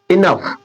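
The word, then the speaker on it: enough: ना लास्ट में देखिए जी एच है इनफ इनफ इनफ इस जी एच को क्या बना दे रहे हैं जी एच को क्या बना दे रहे हैं फ इधर भी जी एच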